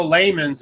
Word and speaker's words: Lehman's: If you guys don't know, Lehman's is actually the correct pronunciation.